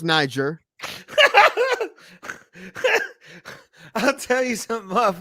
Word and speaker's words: Niger: Because the teacher's like, "No, that's not how it's pronounced. It's pronounced Niger."